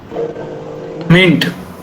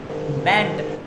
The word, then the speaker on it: meant: मिंट. मेंट. You are wrong. Meant, yes. Pronunciation is wrong. Meant.